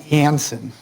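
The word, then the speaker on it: Janssen: try to call it hanson j is pronounced with a y uh they're to begin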